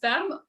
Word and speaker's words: Ferme: So it's pronounced Ferme, Okay. which is totally common. So Ferme, so I'm Francophone, and Matt is Finnish heritage, which is the.